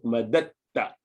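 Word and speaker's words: مددت: So madadna, and then obviously madadta, but with tajweed you pronounce madatta straight onto ta.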